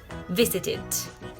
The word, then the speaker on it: visited: Ahí voy a usar la tercera opción de esta pronunciación de la ed, que es id. Por lo tanto, voy a decir visit, visited.